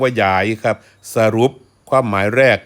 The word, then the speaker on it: ยาย: น นก อื เอ้า นี่ คือ ความ หมาย ของ คำ ว่า หยาย ออก เสียง ว่า หยาย ครับ สรุป ความ หมาย